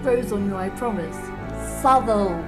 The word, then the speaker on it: Southwell: software in the world say it with me Savile supple it grows on you I promise Savile you